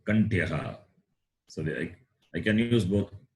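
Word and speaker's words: kaṇṭhyaḥ: H is not like the English H, it is got dot at the bottom. Visarga. So you have to pronounce Kantyaha. You will see that later, how it is pronounced, Kantyaha. So you can hear and remember the pronunciation, Kantyaha.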